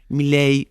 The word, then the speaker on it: Millais: Mile al respecto de cómo se pronuncia el apellido, se escribe, el nombre del autor de Ofelia de este cuadro lo podemos decir Mil Miley.